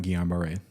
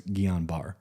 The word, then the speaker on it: Guillain-Barré: I also know that it has very varied pronunciations. Yes. So we're talking about Guillain-Barré.